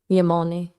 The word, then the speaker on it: Yamane: Yamane. No, you almost had it. So you respect Enya, but she's not Yamane level. What's the specific gap for you? I would say the complexity that Yamane has Enya doesn't quite have that complexity.